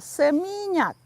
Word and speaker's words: Seminyak: let's say you know no seminyak not some yuck in seminyak bali or changu okay that